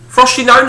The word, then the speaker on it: Frosinone: left for uh FR frosinone frosinone is that's how you pronounce it uh for two years